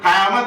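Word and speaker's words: क़यामत: Just उसके विपरीत अगर हम कयामत बोलते हैं तो उसमें नुक्ता होता है।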